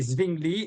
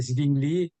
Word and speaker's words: Zwingli: Le W se prononce V en allemand. Ah, ok. Donc, c'est Zwingli et c'est Wittenberg.